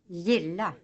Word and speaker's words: gilla: In front of the soft vowels E, I, Y, Ä, Ö, G, K, and SK become soft. G is pronounced like a Swedish J, as the I in English yes, etc.